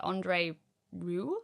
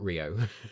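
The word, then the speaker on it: André Rieu: H I've also been to see Andre Ru, I think his name is pronounced. Ah, not Rio.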